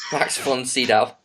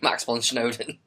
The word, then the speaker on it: Max von Sydow: He just can't pronounce his name. Max von Sydow. There we are. He did it. I know, but I just find it so much more fun saying Max von Snowden.